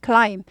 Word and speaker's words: climb: climb b가 묵음이에요. climbing 하지 않고 climb 그냥 오르다 climbing 이렇게 돼요. b가 아예 발음이 안 나는 거죠.